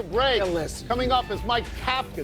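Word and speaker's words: Kafka: Coming up is Mike Capa. That's how it's pronounced. It's not cafka getting a fair test to get the Giants full-time job.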